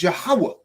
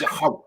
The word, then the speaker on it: Yahweh: But the I was always pronounced with the Y sound. So the name was Yahweh. It was always Yahweh.